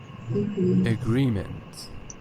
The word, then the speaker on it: agreement: Agreement, second syllable.